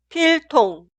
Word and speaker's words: 필통: Esta sílaba suena 통, 통, 통. No se pronuncia ton. En este caso utilizaría la consonante final ni은, que suena como N. Nunca se pronuncia tongue.